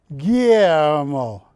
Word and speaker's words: Guillermo: Did I say it right? You did. Because you be going Guillermo. Yeah, it's Guillermo. Guillermo.